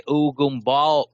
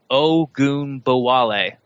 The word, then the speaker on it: Ogunbowale: And I'm gonna try to get his name right. Dare Ugumbal. I even said it wrong. I have it broken down right in front of me. Dare Ugumbawale. Ogunbowale. Dare Ogunbowale. Okay, there we go.